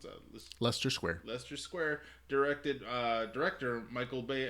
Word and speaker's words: Leicester Square: How do you pronounce that? Leicester Square.